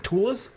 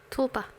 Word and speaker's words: tulpa: ghosts there are in Tulas. Am I pronouncing that right? Tula? Tulpa. Tulpa. There's a P in there that I forgot about. It's silent. It's like a pterodactyl.